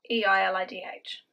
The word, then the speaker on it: Eilidh: But it's spelled E-I-L-I-D-H. But it's pronounced Eilidh.